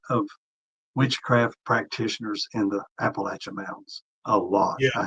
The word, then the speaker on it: Appalachia: So if you throw an apple at you, Appalachia is the way natives speak it. Hey, there you go. Yeah. Throw an apple at you. So if I threw an apple at you, that's how they say it. It's Appalachian. If it's Appalachia, then we know they're from like New York or something.